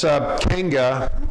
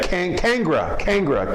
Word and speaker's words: Kangra: But anyways, also this Kanga, or am I saying it right? Kanga? Yeah, I think it's called the Kanga. Yeah, Kangra, K-A-N-G-R-A.